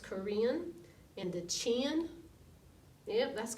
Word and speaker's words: Karen: they're called the Korean it looks like Karen doesn't it kar en but it's pronounced Korean and the chin yeah